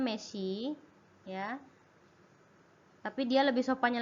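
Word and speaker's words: 飯: Dia kalau dia berdiri sendiri itu dia bacanya meshi ya, tapi dia lebih sopannya lagi gohang ya.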